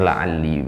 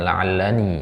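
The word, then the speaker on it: لعلّي: Ya, afwan ini salah harokat ya, seharusnya kasrah di situ ya. Ini la'alli bacanya. Ini ya. Ini harusnya di bawah. La'alli. Ya, la'alli atikum minha biqabasin. Ya. Baik. Jadi la'alla ditambah ana jadinya la'alli, bukan la'allani ya.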